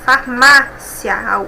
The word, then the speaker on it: farmácia: Agora, farmácia. Nós temos aqui um ditongo, mais uma vez, e uma palavra paroxítona, farmácia. A penúltima sílaba é mais forte.